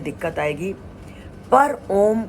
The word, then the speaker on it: ॐ: शुरू में आपको सांस खींचने में दिक्कत आएगी, पर ओम का उच्चारण करने में ओ को जब उच्चारण करें तो होठों को ओम इस मुद्रा में लाएं और उसके बाद मां ध्वनि निकालने से होता है।